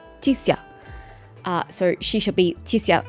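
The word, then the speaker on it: Chixia: And this is not supposed to be 2 syllables. It's supposed to be Tixia. Tixia.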